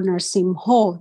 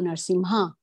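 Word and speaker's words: Nṛsiṁho: He said, devotees are so used to singing Narsingha prayer, but they don't memorize the exact words, like, no, Eto Narsimho, they will say Eto Narsimha, you see?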